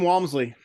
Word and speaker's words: Walmsley: you say his name for me uh Jim Walmsley okay I was I wasn't that far um